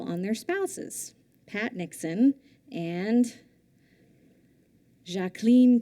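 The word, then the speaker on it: Jacqueline: their spouses patn and jacen Kennedy that is how she preferred to say her name the two women were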